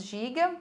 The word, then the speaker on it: Gigue: página vem a Giga, apesar de estar escrito Gigue, nós lemos Giga, que é a última dança da suíte, e acabou a suíte.